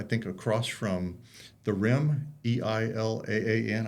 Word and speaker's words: Elan: It's over at the Elan, which is, I think, across from the Rim, Eilaan. I think that's how you pronounce it. Not Elon Musk. It's Elan, that big center there.